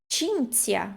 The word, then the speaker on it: Cinzia: Cinzia, nós temos CI e depois o ZI. Cinzia. Então, né, o problema um pouco na pronúncia dessa palavra é CI e ZI de novo.